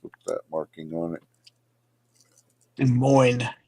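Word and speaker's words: Des Moines: De Moine, you don't pronounce the S. And like Illinois. So De Moine.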